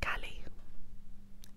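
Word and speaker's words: Caleigh: i g h c-a-l-e-i-g-h oh my mistake is pronounced cali interesting hi cali i've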